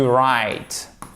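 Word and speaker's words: write: on ne prononce pas le double ok tu right on ne prononce pas le diabolio voyez donc vous suivez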